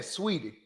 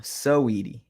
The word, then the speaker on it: Saweetie: Okay, so you ain't saying Sweetie. No, Saweetie.